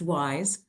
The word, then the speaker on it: WIIS: Women in International Security, pronounced wise, is a nonprofit, non-governmental